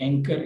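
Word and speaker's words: anchor: और इसी तरह से होल और इसी तरह से वुड और राइट और ये रिस्ट और इसी तरह से एंकर, इसमें एच नहीं पढ़ी जाएगी।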